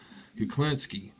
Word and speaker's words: Kuklinski: Is it Kulinski? Is that Kuklinski. Kuklinski? Yeah, Kuklin. Yeah, Kuklinski.